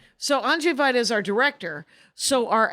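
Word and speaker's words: Andrzej Wajda: Andrzej Vaida. Yeah. Andrzej Vaida. So Andrzej Vaida is our director.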